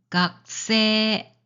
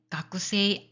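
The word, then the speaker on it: 学生: 각세 각세. 자, 가꾸세 가꾸세이 아닙니다. 걱사이 곡사이 자, 이것도 고그사이 고사이 아닙니다.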